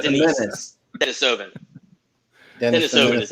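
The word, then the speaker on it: Denisovan: Denisovin is how it's pronounced.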